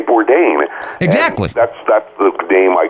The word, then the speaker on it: Bourdain: thrown me off well technically it's a French name and if I were if I were living in France people would call me or die yeah sure she would pronounce it but I mean you know my parents learned very early on that you know particularly if you're ordering takeout Chinese food in America you know you say Bourdain that's that look damn